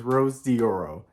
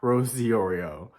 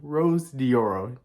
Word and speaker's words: Rose Dioro: me being the dummy that I am is Rose dioro not Rosie Oreo so it's Rose dioro let's pronounce it with me Rose dioro not Rose diorio now let's continue on with the interview first